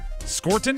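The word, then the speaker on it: Scourton: How do you How do you say this one? Scorton. Scorton. Scorton. Yeah, I messed it up, too.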